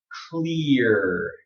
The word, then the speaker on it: clear: You have a diphthong, and then umgui is r.